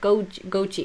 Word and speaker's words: Goji: no, not Gucci, but Goji. It's just I have a weird pronunciation because Norwegian.